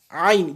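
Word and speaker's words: ع: Aïn, différent de a.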